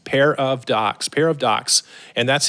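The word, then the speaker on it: Pairadocs: it's Paradox podcast and let me spell that for you p a i r a d o CS pair of Docs pair of docs and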